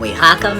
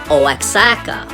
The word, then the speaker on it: Oaxaca: bologna and i'm reporting to you live from oyhaka mexico now before we talk about the town